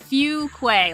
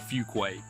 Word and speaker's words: Fuquay: Fuquay Fuquay or something yeah it's a Fuquay like f-e-w but have you ever